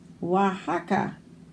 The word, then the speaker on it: Oaxaca: Ouija, Oaxaca. Makes a W sound, but spelled with an O.